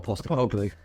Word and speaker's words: Postecoglou: I ain't got a Postecoglou. That's how you pronounce that, yeah.